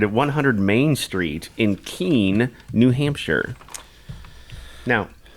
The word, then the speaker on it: Keene: it's probably pretty small is it even pronounced Keen I think so e-e-n-e I would say that's Keen I think so I think it's something k-e-n-e-k-e-e-n-e oh yeah Keen it's not Kenny no no I have